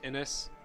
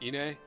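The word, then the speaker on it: Innes: His name is pronounced Innis in, like, stuff, where his voice is shown officially. I've always called him Ine, because it looked like Ine to me.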